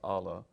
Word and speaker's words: Allah: And I said, first of all, you learned that God and Allah, or Allah, but we pronounce it as Allah, are the same.